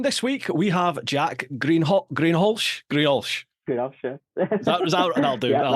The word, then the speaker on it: Greenhalgh: How do you pronounce it? I say Greenhalgh.